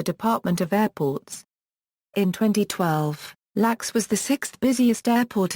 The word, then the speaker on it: LAX: its iata airport code LAX with the letters pronounced individually LAX is located in